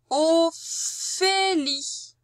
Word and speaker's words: Ophélie: Le voilà, le son F. Ophélie. Il est dans la deuxième syllabe, Fé. On voit bien le E. Et la seule manière qui nous reste avec les lettres pour faire F, c'est le P et le H.